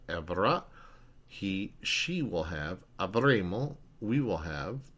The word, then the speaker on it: avremo: he, she will have, avremo, we will have. Remember, you only want to pronounce one M there.